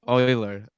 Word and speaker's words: Euler: just messed it up I the phonetic is Euler yeah yes that's what I've always been told